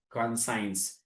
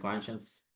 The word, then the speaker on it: conscience: line thus conscience actually we used to pronounce that earlier know in our student life as conscience consigns that you know did sound really well for us but when we realized the know actual pronunciation was little different conscience so it it